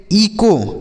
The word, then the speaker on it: echo: इको। क्या पढ़ेंगे सर? इको पढ़ेंगे। यहाँ पर एच साइलेंट है, इसे ईचो नहीं पढ़ेंगे, इको।